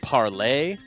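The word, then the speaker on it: Parler: which is apparently pronounced apparently they they want you to pronounce it parlay really you know we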